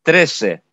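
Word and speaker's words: trece: Например, я скажу «три» – «трес» и «тринадцать» – «тресе». Или бывает так, что окончание кто-то не произносит и говорит «трес».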